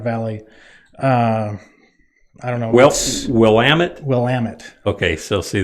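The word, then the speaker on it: Willamette: live the willamet valley uh I don't know will Amit will Amit okay so see the Southern Illinois guy says willit yeah it's wamit okay that's that's how it's supposed to be pronounced all right I got you uh we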